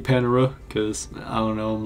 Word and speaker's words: Panera: it differently I'm just going to keep saying Panera cuz I don't know I'm like that with